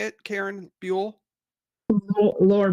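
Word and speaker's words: Brule: Buell? Lower Burl.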